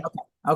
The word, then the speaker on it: Dinwiddie: Today, I'm thrilled to welcome a dynamic voice in the world of creativity and courage, Dinwiddie. That's right. Did I say it right? Dinwitty. Okay, good.